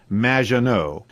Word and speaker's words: Maginot: It's Madge, which rhymes with badge. As in duh, and no as in more than you. Maginot.